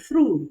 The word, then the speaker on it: through: also what you have in words like through I'm through with it I'm through with it can you say that but a lot of people will say I'm through with it and so you're pronouncing another word which is T Ru e if you are true with it then you may be false with it you see that you